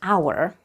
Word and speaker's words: hour: word class or lesson look at how it is written in this world the letter H is silent let's practice saying it